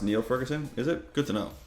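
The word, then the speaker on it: Niall Ferguson: what are you going to do um it's pronounced Neil Ferguson is it good to know thank you no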